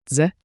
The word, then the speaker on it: Дзе: A quick DZE, like J, with a soft D.